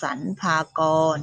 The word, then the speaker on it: สรรพากร: สรรพากร อ่าน ว่า สรรพากร เห็น มัน ก็ ดู เป็น มาตรา แม่ กน ทั้ง นั้น แล้ว นะ คะ นัก เรียน ดู ที่ คำ อ่าน นะ คะ ดู ที่ ทำ อ่าน เป็น มาตรา แม่ กน เท่า นั้น ไม่ มี ตัว สะกด มาตรา อื่น เลย ไป ดู ชนิด ที่